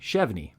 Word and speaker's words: Chevigny: g n y and pronounced with a silent G chvy his father Julius was